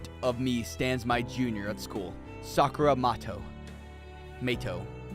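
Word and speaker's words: Matou: It's pronounced Mato.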